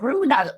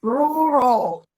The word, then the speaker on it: rural: city is different to the experience in the rural area. Oh, yes. And I thought, oh, Yeah. I'm speaking cool. When I discovered, oh my God, the correct pronunciation is rural.